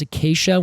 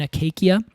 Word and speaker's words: Acacia: word for thorn and now we pronounce it as Acacia when it back then I think because they did hard C's would have been Acacia okay so um Acacia